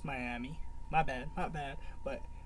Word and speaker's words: Myamee: do it itory so I've been saying the name wrong it's Miami my bad my bad but man she talking